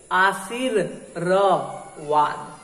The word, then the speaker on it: आशीर्वाद: अब जैसे देखो आशीर्वाद, आशीर्वाद, जब आशीर्वाद लिखते हैं तो रेफ वा पर रहता है, अब पढ़ते क्या है, आशीर्वाद, आशीर्वाद, लेकिन वहां पर नहीं।